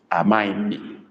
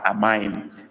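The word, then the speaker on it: amaghị: Amaim. Amaim is spelled A-M-A-G-H-I with dot under the I. Amaim.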